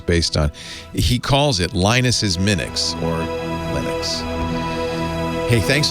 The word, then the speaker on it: Linus: Do you think that Linus Torvalds took the Finnish pronunciation of his name, which is Linus, and added the X?